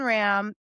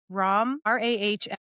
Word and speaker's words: Rahm: So maybe he thinks it's endearing, but his name is Ram. Ram, Rahm.